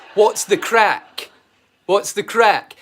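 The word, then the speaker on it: craic: It's a bastardized version of the original Irish. Oh, it's crack. And it means the same. It means exactly the same thing, but it's how they pronounce it.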